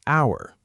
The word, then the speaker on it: hour: Then there's hour. Kevin said it took him hour just to fill out all those forms, but hour actually needs an in front of it, too, not a.